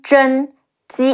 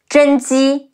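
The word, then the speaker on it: 甄姬: In Dynasty Warriors, also known as Zhen Ji, Zhi En Zhen. Ji Yi Ji, Zhen Ji.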